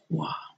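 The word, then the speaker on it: 画: Hua means flower, and hua means painting, and it should be the 4th tone here. and not a flat tone.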